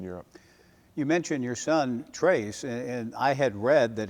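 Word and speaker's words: Tres: early years in Europe you mentioned your son trace and I had read that it's pronounced trade is TR it's Trace okay the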